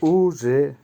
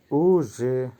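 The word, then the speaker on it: уже: উচ্চারণ হবে উজে, উজে।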